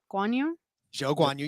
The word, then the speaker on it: Zhou Guanyu: So it was a nod to him and just the precision of racing, and it's inspired by Zhou Guanyu. Zhou Guanyu.